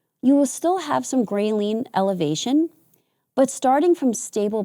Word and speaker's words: ghrelin: And by the way I remember that ghrelin is the hunger hormone is because it sounds like the word gremlin, and I visualize little gremlins running around my stomach telling me to eat.